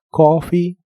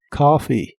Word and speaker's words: coffee: suena como av av la palabra coffee la puedes pronunciar con la o o con la a profunda coffee o coffee a good cup of